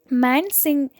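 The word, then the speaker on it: Man Singh: Then next one, Mansingh etc.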